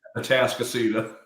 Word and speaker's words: Atascocita: In addition, he was the founding principal of, I should have asked you how to pronounce this. Let me try it though. Addis, give me that. Atascocita.